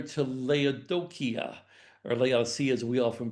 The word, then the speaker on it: Laodicea: They said, oh, it's Laodicea, because the C is a K sound. And I said, okay, Laodicea, I can do that.